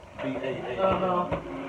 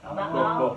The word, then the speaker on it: Baal: was, I say Baal, B-A-A-L. How you Was say? the God of, well, you got to pronounce both alphabets. Baal? Both, yeah, right there.